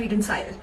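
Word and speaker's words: Redensyl: रिडेंसिल भी बोलते हैं जिसको, अलग अलग प्रोनाउंसिएशंस हैं अलग अलग कंट्रीज में. कोई कहते हैं रिडेंसिल, कोई कहते हैं रिडेंसाइल.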